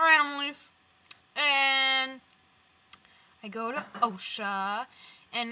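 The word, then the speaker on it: OCHSA: me fig or Analise and I go to OSHA and it's spelled OC C HS a not any other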